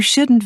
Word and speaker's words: shouldn't: Notice how the T in can't and shouldn't is not strongly pronounced.